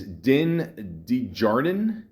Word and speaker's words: Din Djarin: Pascal's leading roles as Din Djarin, is that how you say it?